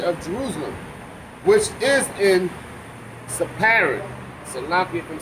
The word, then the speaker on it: Sepharad: Jerusalem, which is in Sepharad. Salaki, if I'm saying that word wrong. Sepharad. I think it's Sepharad. I think that PH is an F.